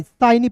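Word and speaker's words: shiny: फिर देखिए यहाँ पे एस एच आई एन वाई साइनी पढ़ेंगे।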